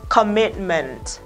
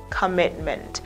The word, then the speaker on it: Commitment: Thế tại sao O ở đây thì lại đọc là âm O ngắn? E ở đây nó lại đọc là âm Ơ ngắn. O ngắn là một trong 12 nguyên âm đơn. Ơ ngắn là một trong 12 nguyên âm đơn. Tại sao cái này nó lại đọc E đây lại đọc là Ơ.